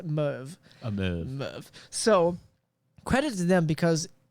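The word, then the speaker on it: Merwe: ian roberts and driver alan van vander merv is how his last name has said it's spelled m-e-r-w-e but it's a move so credit to them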